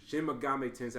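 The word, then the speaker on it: Shin Megami Tensei: new Shin mam Shin Mame tensei thank you Shin Mami tensei I actually looked it up to see if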